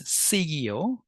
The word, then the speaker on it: siguió: So notice the pronunciation, right? So this is segui, seguiste, but this is siguió, seguimos, and siguieron.